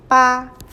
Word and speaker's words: 爸: The one at the bottom is the phonetic radical of this character, 爸. So the whole character is pronounced as 爸.